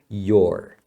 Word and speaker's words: you're: your right right então isso daqui é a contração de you are que se se pronuncia your Então fale your right You're Right Você tem razão